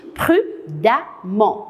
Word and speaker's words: prudemment: ENT, j'ai mis E2MENT, mais quand je vais prononcer, je vais dire prudemment. Je ne vais pas dire prudemment, on prononce prudemment.